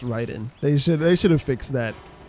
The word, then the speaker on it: Raiden: It's supposed to be pronounced Raiden.